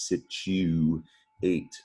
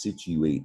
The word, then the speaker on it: situate: the u says you you might uh think this word is spelled it's situ eight sounds like chew but it's situate the u says you and when you